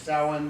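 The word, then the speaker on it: Samhain: couch yes I know it looks like it's pronounced same name but it's not it's sowing because the alphabet is kind of optional but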